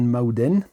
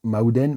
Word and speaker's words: Mağden: Il y a un G, ça s'écrit Magden avec un petit je sais même pas comment ça s'appelle, l'espèce de petite lunule inversée là qu'il y a sur le G. Je crois que ça se prononce Aoua.